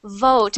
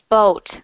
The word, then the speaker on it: vote: of sounds like V so try doing that sound for me okay vot vote good one more time vote good cuz what I'm hearing is boat almost right and and um